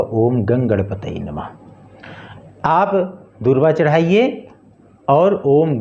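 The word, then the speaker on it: ॐ गं गणपतये नमः: ओम गंगणपताय, माफ कीजिएगा, ओम गंगणपतये नमः।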